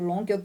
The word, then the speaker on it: Longhi: O Long se escreve L-O-N-G-H-I.